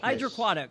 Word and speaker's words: HydraQuatic: little bit more how do you say it's hide your aquatic hydroquinone hydroquatic okay so give us more details well austin